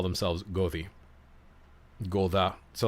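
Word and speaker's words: goði: So like I said, this is the letter F, E-T-H, F, and it looks like a D with a little slash at the top, and it's pronounced like a T-H. So it's Gothi.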